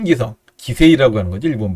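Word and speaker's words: 棋聖: 일본 화면에서는 이야마 유타 기성대 이치리 기료 기성 이렇게 되어 있는데, 이야마 유타 구단이 갖고 있는 거는 큰 기성 기세이라고 하는 거죠, 일본 발음으로.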